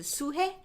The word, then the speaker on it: 수혜: in Korean pronunciation is 수혜.